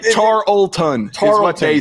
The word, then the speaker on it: Tarleton: It's almost like it's a silent L.